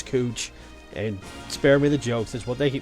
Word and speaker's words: Couch: downtown on second and cooch it's spelled couch it's cooch and spare me the